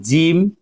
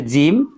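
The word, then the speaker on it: gym: যেমন আমরা এখানে দেখতে পাচ্ছি এটার উচ্চারণ হচ্ছে জিম। এটার উচ্চারণ হচ্ছে জিম।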